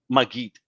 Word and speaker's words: Maggid: And we're going to get into, is it pronounced Maggid? Maggid.